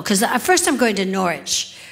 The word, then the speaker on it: Norwich: Because first I'm going to Norwich, which I had to learn how to pronounce because it says a W in the middle, but you can't say it. You can't say Norwich. Look, it's Norwich.